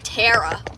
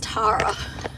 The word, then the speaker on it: Tara: It's like when you say my name, it's like terror. My name's Terara where in Australia it's Tara.